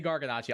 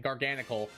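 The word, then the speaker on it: Garganacl: Both Gamora and Gargan Gargan I keep want to say Garganachi. I'll say it correctly. Garganicle or nothing special in my playthroughs.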